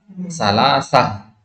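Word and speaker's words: ثلاثة: Ketika antum membaca kata salah, ya. Kalau diwakaf di sini bacanya apa? Salasah, ya kan?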